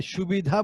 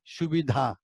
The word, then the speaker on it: সুবিধা: এই সুবিধা বলতে গিয়ে অনেক সময় আমরা সুবিধা বলে ফেলি, যে এটাতে কোনো সুবিধা নেই, সুবিধা, এই ধ উচ্চারণটা ঠিক মতো আসছে না।